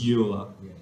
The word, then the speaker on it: Euler: It's called Euler. Pronounce it incorrectly. It's Euler. This is where natural logs come in.